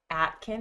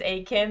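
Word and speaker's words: Aiken: Is it Akin? Oh my gosh, I said that wrong last week. I I knew it was Akin, but I'm like, "No, I said it wrong. It's got to be Atkin."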